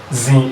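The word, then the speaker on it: zii: 1 is called zin. Zin is spelled as Z-double-I, zin.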